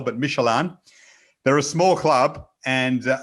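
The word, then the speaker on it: Midtjylland: It's like a Michelin man, kind of, spelt in Danish, if that makes sense. That's the pronunciation. Very difficult to spell, but Michelin.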